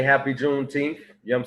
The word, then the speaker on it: Juneteenth: gonna be talking about uh juneteen that's that's that's how you say it juneteenth he wants to talk